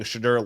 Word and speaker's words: Shedeur: Shedeur led the Browns to their first win.